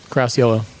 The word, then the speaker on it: Caracciolo: Today we have Caracciolo. Is that how you pronounce it? Yep, Caracciolo.